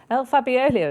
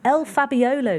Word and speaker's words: El Fabiolo: at five to two El fabiolio is second in there it's um two to one I keep putting in an extra syllable El fabiolo Lydia appreciate it who